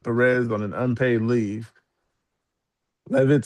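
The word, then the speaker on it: Leavitt: White House press secretary Katherine Levit. These names are really hard to pronounce.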